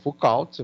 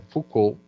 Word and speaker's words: Foucault: Então, nós vamos caracterizar as suas práticas de acordo com Foucault, se escreve Foucault, mas é Foucault, é francês Foucault, Peschel e eu diria assim, Farclose.